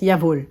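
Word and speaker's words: Jawoll: o h l et ça se prononce yavol et ça veut dire mais oui bien sûr yavol y vol désolé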